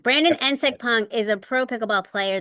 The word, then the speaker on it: Nsekpong: Yeah, Nsekpong. like if you put an I in front of it and say it insect pong, that would be it. Nsekpong. Brandon Yeah. Nsekpong is a pro pickleball